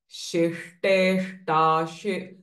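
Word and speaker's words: शिष्टेष्टा: Priya Shiva Para Shishteshta Again, see, it's very complex. Shishteshta Shishta Pujita. So this she and this shta. Shishteshta. Sorry. Shishta Pujita. So we have to be very conscious about pronouncing these two types of sh.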